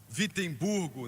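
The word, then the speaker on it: Wittenberg: igreja emurg na Alemanha na verdade começa com um w mas pronuncia com v vemb Burgo na Alemanha e pregou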